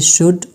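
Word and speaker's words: should: हमारे पास आता है L there is नो A exact rule of एल but mostly after a ई र यू द साउंड ऑफ एल ब become silent इसके लिए कोई खास रूज नहीं है लेकिन ये एक कभी मतलब अक्सर ए ई और यू के बाद जब आता है तो इसका जो साउंड होता है वो क्या होता है साइलेंट होता है जैसे कि शुड वुड टक पाम वाक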